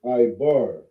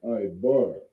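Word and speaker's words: עבר: Hebrew in English, how we say it in the Hebrew is Ibar. All right? You would pronounce it Ibar.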